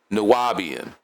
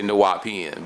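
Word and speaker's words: Nuwaubian: Or you could say Nuwapian, but it's the same word, right? And he also said it's Nuwapu back in Nuwapo, he said it different ways. But in the Constitution, it's spelled with a B, so that's what I go with.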